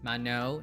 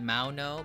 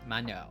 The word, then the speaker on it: Maono: They did say that this is pronounced as Mano, not Mano, but Mano.